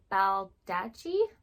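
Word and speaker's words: Baldacci: And the author is David Baldachi. I think double C's is usually a ch sound, so I hope I'm pronouncing that correctly.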